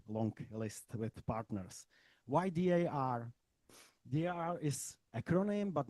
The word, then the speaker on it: D.A.R: Why D.A.R? D.A.R is acronym, but not only. D.A.R is on the one hand, this acronym means also in the Czech pronunciation dar. It means gift.